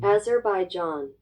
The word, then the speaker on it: Azerbaijan: Um, Azerbai John.